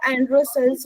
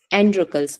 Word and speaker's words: Androcles: एंड्रोकल्स बोले या एंड्रोसल्स बोले? एंड्रोकल्स बोलेंगे।